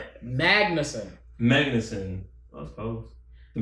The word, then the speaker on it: Magnussen: Magnesium. Magnussen.